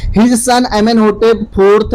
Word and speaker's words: Pharaoh: फेरो मिस्र में राजाओं को फेरो कहा जाता था, स्पेलिंग याद रखेंगे आप, PHARAOH, फेरो, फेरो।